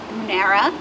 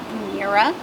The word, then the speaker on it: Brunnera: So I've heard a lot of different pronunciations for this plant. Brunnera, Brunnera, Brunnera. Whatever you say is absolutely fine with me.